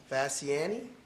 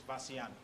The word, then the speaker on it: Fasciani: Our next speaker is Fasciani. Is that the correct way to say it? No, sir, it's Fasciani. Fasciani.